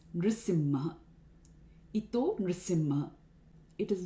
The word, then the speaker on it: Nṛsiṁha: Here we cannot use Narasimha. This particular verse is in the meter Upendra Vajra. It has 11 syllables. If we elongate Nṛsiṁha to Narasimha, we will actually change the meter. The number of syllables increase. So it's Nṛsiṁha.